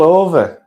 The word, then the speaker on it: Ove: You can say A Man Called Ove, but it's actually pronounced Ove. It's Swedish, as mentioned.